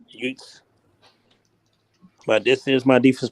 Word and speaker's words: Ute: He plays for the Utah Utes or Utes. That's how you pronounce that damn team name. Utes. Utes.